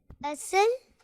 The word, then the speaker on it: اصل: اصل، اصل۔ چلیں دیکھتے ہیں کہ اصل جو تلفظ ہے وہ کیا ہے۔ جی یہ اصل ہے، اصل نہیں ہے، سعاد کے